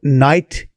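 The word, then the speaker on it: Kneyght: नेट को आप नाइट का उच्चारण भी दे सकते हैं, तो ये कुछ अलग स्पेलिंग से लिखा हुआ नाम है नाइट का।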